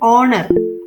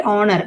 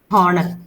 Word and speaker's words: honor: honest honor these words in these words H is silent so you have to pronounce it as our I am waiting for an hour not hover then you can tell honor it's a great honor